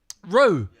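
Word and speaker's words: Roux: Roo. Roo, how do you spell that?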